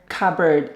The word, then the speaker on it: cupboard: cooker sink dishwasher cabinet cupboard remember cupboard letter p is silent coppered we mentioned the